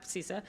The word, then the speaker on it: CISA: People pronounce it every other way, so CISA.